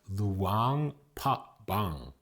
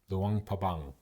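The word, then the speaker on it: Luang Prabang: It's actually pronounced Luang Pbang. Luang Pabang.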